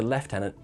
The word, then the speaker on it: lieutenant: I grew up thinking that lieutenant was the only pronunciation of that word because I watch Star Trek and then yeah, they say left tenant.